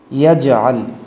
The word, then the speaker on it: یجعل: یا جیم زبر یج، عین لام زبر عل، یجعل، یجعل۔ لقد، لام زبر لا،